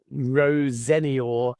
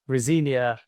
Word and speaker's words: Rosenior: Rosenia, and I've just said it then, but Rosenior is the family's preferred pronunciation. But to my knowledge, because Rosinia has been so commonplace for 40 years, they're fine with that as well.